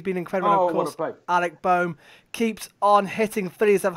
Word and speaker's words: Bohm: Is that how you pronounce it? Alec Bohm, yep.